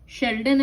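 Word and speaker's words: Schleiden: ये दो बायोलॉजिस्ट, इसका प्रोनाउंसिएशन थोड़ा डिफरेंट है, शेल्डन एंड श्वान।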